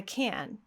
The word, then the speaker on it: can: Instead, we're going to say, yes, I can. Now, when the word can is at the end of a phrase, now it is stressed. And now we are going to produce the ah sound.